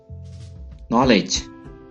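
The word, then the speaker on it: knowledge: नॉलेज, नॉलेज, इल्म, के is silent here, नॉलेज।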